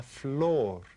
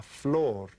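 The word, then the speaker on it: flor: these the flower and we said this is called La Fleur can you say that La Fleur and that sounds kind of like the flower floor flower right and you remember your head is like like the flower or the floor right I tell you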